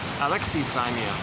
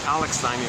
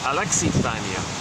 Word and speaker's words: alexithymia: Officially, it's alexithymia. All this time, I've been using alexithymia for some strange reason. I didn't notice the I there. I thought it was silent.